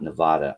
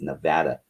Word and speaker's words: Nevada: moved from nevada and it's not nevada i will fight you over that you people learn how to say it it's nevada no people in nevada